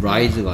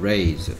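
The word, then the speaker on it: raise: a i se 오케이 그리고 레이입니다 발음이 라이즈가 아니고요 레이 오케이 계속해서 ARM AR 오케이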